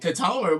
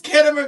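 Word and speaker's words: Khitomer: talking about, I was like, Katomer, what is that? It's Kittimer, girl.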